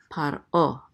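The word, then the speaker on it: פרעה: Okay, so, and this is a pei with a pata which says pa with the resh together. This shava is silent again, so this is par. And this is the ayin with a cholim, and this hey together says o. So this is paro.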